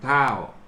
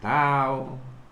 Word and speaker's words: เฒ่า: กำกับ อ่าน ว่า ข้าว รวม กัน ก็ จะ อ่าน ว่า ทำ ถ้าว ทำ ถ้าว แต่ ชาว ปักษ์ ใต้ ก็ จะ ออก เสียง เป็น ทำ ข้าว ก็ ทำ ๆ คำ